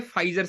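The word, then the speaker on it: Pfizer: और ये फ्री है ना, ये है फाइजर से रिलेटेड, पी साइलेंट रहता है तो फाइजर।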